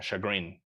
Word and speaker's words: chagrin: It's one of those words que la CH se pronuncia como machine, right? Machine, como machine learning. Yeah, chagrin. To the chagrin of both my friends.